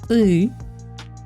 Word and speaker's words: ы: I cannot think of an example, but the pronunciation should be ы. There's a word мы, char, we, мы, ы.